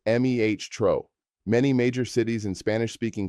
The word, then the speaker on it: metro: Subway or metro is metro, pronounced meh-tro.